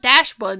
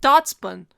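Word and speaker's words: Dachsbun: Like Dotson. Like Dotson, but Dotspun. Dashbun. It's not Dashbun, it's Dotspun.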